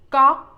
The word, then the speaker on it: ก๊อก: knock in English, but the first letter you must start with the G sound and end with no K sound. Here it is again. ก๊อก One more time.